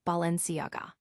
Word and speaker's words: Balenciaga: The common mistake is to pronounce the G as in go, but it's actually pronounced Balenciaga.